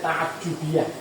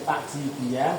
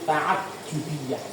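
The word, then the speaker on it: تعجبية: Tapi ini bacanya tajubiah ya. Dari tadi salah bacanya ya. Saya nyontohin yang salah. Bukan takj takjibiah tapi tajubiah.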